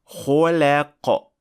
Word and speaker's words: خلق: or exaggerating opening the mouth when you pronounce the lam. خلق. That exaggeration is not good, and it kind of ruins the sound of the word.